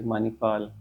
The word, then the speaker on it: Manipal: It's a very easy word with 4 syllables, ma, ni, pa, and la. Usually in English, we drop the sound at the end of the word and just say it as Manipal.